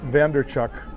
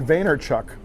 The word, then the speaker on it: Vaynerchuk: little bit it's by jerry vander chuck and i'm pronouncing his name wrong mine Steve it is Gary Vaynerchuk okay and he's an